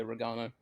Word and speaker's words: Rano: yep 594 perfect and is it pronounced Rano for the last name yeah Rano okay Mr Rano and